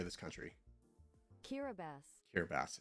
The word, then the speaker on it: Kiribati: Kiribati.